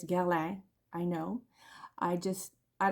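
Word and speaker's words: Guerlain: So, I've been told that I should pronounce Gerlin. I call it Gerlin, but it's Ger.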